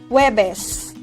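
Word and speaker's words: Huwebes: however in normal conversation most native speakers omit the sounds of letter u and just combine the sounds of h and w and pronounce webes as webes additional information web is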